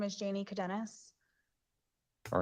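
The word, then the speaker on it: Cadenas: appropriate hello your honor my name is Janie cadenis all right can you spell that last name c-a-d-e-n-a-s okay go ahead also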